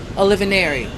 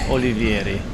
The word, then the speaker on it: Olivieri: don't tell me, Olivineri. Almost. But you told me before I said it so well. It was very musical, very close to the right name, but the right pronounce is Olivieri.